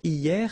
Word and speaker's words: hier: Hier means yesterday, okay? Hier. So remember, this H here is not pronounced, okay?